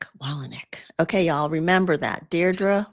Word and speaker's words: Dierdre Wolownick: It's Dierdre Wolownick. Wolownick.